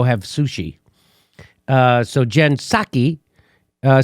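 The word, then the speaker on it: Psaki: it they asked jen saki you're not supposed to pronounce the p gensake which is what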